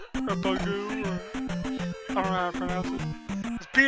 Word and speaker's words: Bagu: But first, you have to get the a letter from a guy named Bagu, or Bagu, or I don't know how to pronounce it.